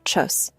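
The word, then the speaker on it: Tschüss: In casual situations among friends and family, you will almost always hear tus translation by pronunciation chus.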